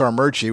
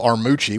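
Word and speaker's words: Armuchee: And if you mispronounce Armurchie, that's how we know you ain't from around here. If you try to go Armucci, we know you ain't from around here.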